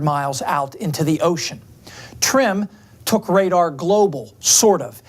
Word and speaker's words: TRMM: mission trmm for short usually pronounced trim a joint venture between